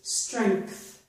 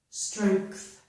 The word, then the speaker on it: strength: With these two words, I pronounced this G, letter G in here, as a K, almost as a K sound. So this is length, length, length. And this one is strength, strength. So the K is there for the G. So K, TH. Not all people pronounce the K in these two words, but many people do,